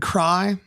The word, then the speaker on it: Kraai: my name is cry that's spelled k-r-a-a-i sounds like cry it means Crow and Dutch like the bird ah and uh yeah